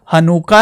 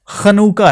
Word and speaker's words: Hanukkah: इब्रानी में नुका मतलब अगर इसकी इंग्लिश प्रोनाउंस हो जाए तो यह हनुका है और अगर इब्रानी है तो ख खनका है तो हनु का क्या